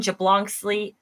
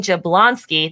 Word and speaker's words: Jablonski: this episode to you colleen jablonsley oh i'm sorry baby i butchered your last name there colleen jablonski there we go we'll get it right enjoy cochrane thank you